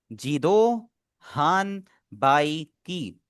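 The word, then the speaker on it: 自動販売機: Japanese में हमारा जिस तरह लिखा हुआ है वैसे ही हम इसे प्रोनाउंस करें, जीदो हाम बाई की, ठीक है।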